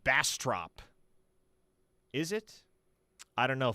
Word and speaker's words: Bastrop: Um Jeff from OKC says it's pronounced Bastrop.